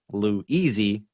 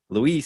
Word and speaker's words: Luis: it now and uh they keep calling me lewis so i'm like you know what i'm going to try to spell like a phonetically a phonetic way of actually saying my name so that way it's easier for them and then i clicked i was like lou easy luis so that that's kind